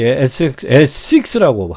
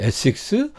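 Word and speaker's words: Essex: 그래서 지금도 이 에식스라고 발음하더라고요. 에식스, 웨식스, 요게는 이제 미들섹스.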